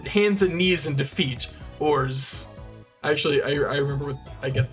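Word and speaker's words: orz: There's no set way to pronounce it. People may pronounce it as orts, ors, or ors. Ors. I say ors.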